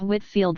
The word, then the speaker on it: Whitefield: George Whitefield, pronounced Whitfield.